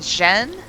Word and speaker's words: Jeanne: And she's also just trying to find her way Come in the on, Jeanne. forest. It's just pain. You can do this. Right, so she pronounces the name Jeanne. So I'll say Jeanne.